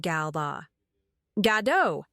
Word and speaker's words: Gal Gadot: Welcome, Rachel Zegler and Gal Gadot! Boom! Case closed. And yeah, I'll admit, I've messed it up a few times before. But when a stunning woman like Gal Gadot says her own name, you listen.